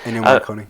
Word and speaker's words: Ennio Morricone: But here's the thing: that does not sound like an Ennio Morricone score. Is that how you say his name? Yeah, Ennio Morricone.